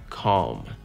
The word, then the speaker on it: calm: Здесь нету яркого звука «l», здесь только «dark l». И он очень-очень мимолетный и, ну, практически незаметный. Calm. Calm. И все.